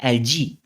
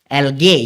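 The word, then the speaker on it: algae: एक प्रकार का एलजी, करेक्ट प्रोनाउंसिएशन क्या है? एलजी, एलगे, गे नहीं बोलने का, एलजी, ठीक है।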